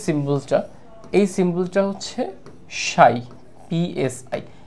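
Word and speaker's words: ψ: কত সেটাকে আমরা ধরতেছি সাই হিসেবে। এই যে সিম্বলটা, এই সিম্বলটা হচ্ছে সাই, পিএসআই। এর উচ্চারণ হচ্ছে অনেকটা এরকম, সাই।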